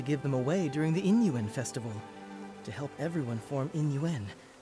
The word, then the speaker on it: Yin Yuan: I think Yin Yuan is what I'll go with. Yin Yuan. Where I will just ignore the Y's, because I don't think I can pronounce them softly enough.